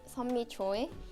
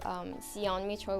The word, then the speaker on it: Seonmi Choi: Yeah, my Korean pronunciation is Sunmi Choi, but I adjusted to Seonmi Choi with like 3 syllables, because people sometimes find it difficult to pronounce my name.